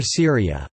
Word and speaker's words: Sūriya: The classical Arabic pronunciation of Syria is Syria, as opposed to the modern standard Arabic pronunciation Syria.